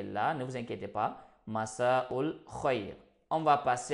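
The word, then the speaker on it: مساء الخير: Alors, la deuxième façon de faire, Masaul khoyr. Comment dire bonsoir? Donc, pour dire bonsoir en langue arabe, on peut dire tout simplement Masaul khoyr.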